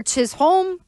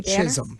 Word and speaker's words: Chisholm: Are we going Chisum or Chisolome? Because we may have a Chisum on the Patriots roster. Do I really need them to be pronounced the same way?